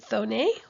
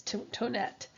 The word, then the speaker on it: Thonet: A lot of times people will see this name on the next slide and they'll pronounce it Thonet, but in fact it's Tonett.